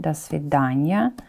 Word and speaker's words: до свидания: Look, we pronounce it together. It's a preposition plus noun, да, because of the reduction, до свидания.